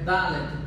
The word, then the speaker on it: Dalet: A pronúncia é Dalet para esta letra.